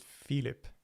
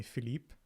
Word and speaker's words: Filip: pronounce your name also in swedish you pronounce it philip philip so if you want to be swedish about it then that's how you pronounce it you can say